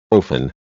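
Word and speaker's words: אופן: It is also the numerical value of the Hebrew word, pronounced ophan, literally wheel, referring to a type of angel, described in Ezekiel, chapter 1.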